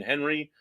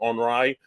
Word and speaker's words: Henri: why it wasn't Hurricane Henry, because it was the French-Canadian pronunciation of Henry Henri.